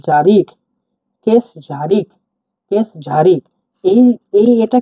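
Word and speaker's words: кеш жарық: আই কে জে এ আর আই কে জারিক case ঝারিক case ঝারিক এই এই এটা কিন্তু যে এইচ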